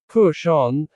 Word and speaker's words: push on: When native speakers say push on, they usually stress the word on.